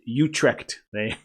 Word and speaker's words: Utrecht: It's pronounced Utrecht.